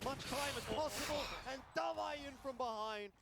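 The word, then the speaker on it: d4v41: And Davai's still on the rotator. You've got to be questioning, where is Davai in all of this? Envy buying as much time as possible, and Davai in from behind.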